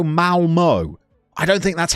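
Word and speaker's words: Malmö: You support Mulma. Eh? Most people would go Malmo.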